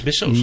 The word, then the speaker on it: Mrs.: So we say Mrs., but the word is Missos.